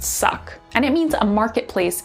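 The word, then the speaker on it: suq: in first up is s-u-q which is basically pronounced suck and it means a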